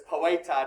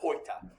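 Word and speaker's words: poēta: And the reason why that's an essential macron is that lets me know that I pronounce this as poeta, not poita. Because normally that OE is a diphthong.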